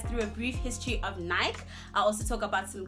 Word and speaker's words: Nike: Okay, so if you are like me and you've been pronouncing Nike as Nike, you're actually pronouncing it wrong. It's actually pronounced as Nike.